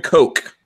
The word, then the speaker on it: Koch: H&K, Heckler & Koch, as you're supposed to say it properly.